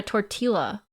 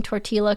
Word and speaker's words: tortilla: You're so close to pronouncing Tortilla correctly. Okay. How do you say it correctly? Dios Mio. What does that mean? Double L equals Y.